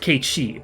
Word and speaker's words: Cait Sith: But yeah, so the actual Cait Sith of folklore is pronounced Cait Sith, because that SITH sound, I believe, is always pronounced she in Irish and maybe Scottish as well.